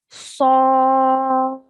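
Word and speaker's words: ص: We would recite this as Sad. Sad. Okay, it's an elongation of 5 seconds on this letter when you're pronouncing it correctly.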